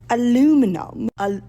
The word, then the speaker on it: aluminum: Can we just talk about the way that they pronounce aluminium? Aluminum.